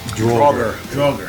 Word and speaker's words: Draugr: You pronounce the song Draugr? Draugr.